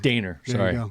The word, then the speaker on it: Dehner: But Dana Der no with a long a der is it German, you know.